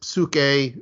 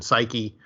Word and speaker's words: psyche: as mind or soul, is psyche, or just to give it an English pronunciation, psyche.